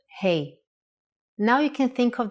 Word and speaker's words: Hey: from this lesson sound like hey in English when you say hello to your friends that's exactly the sound for the Hebrew letter hey now you can think